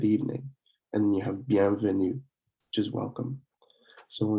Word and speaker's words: bienvenue: And then you have bienvenue, which is welcome. So when we say these again, it is bonjour, bonjour, and then bonsoir, bonsoir, bienvenue, bienvenue.